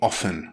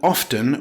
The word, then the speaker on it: often: Some grammarians insist the T is silent, as in soften. Others pronounce the T, as in after. Some believe it sounds more educated to say often with silent T.